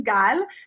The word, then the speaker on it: Gal: And, and the proper pronunciation is Gal, then like we have to think, we have